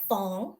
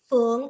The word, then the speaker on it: Phuong: I will say so my name fong in Chinese fung in Vietnamese was given